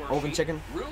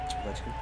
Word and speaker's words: Ovechkin: Oven chicken? Oven chicken. That's close. Ovechkin.